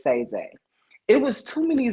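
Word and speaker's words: Saiizaii: z a i i a lot of people pronounced it um Sai Z because my people also call me Sai but it was say Z it was too many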